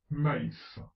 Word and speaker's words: maïs: Exemple, maïs. On prononce le A et le I.